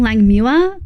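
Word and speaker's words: Langmuir: Mule rhymes with pure. Mua. Oh, so it was Irving Lang Muera.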